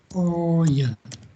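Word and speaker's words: 大家: Kok daika di sini salah ya? Bukan daika tapi di sini bacanya oh ya.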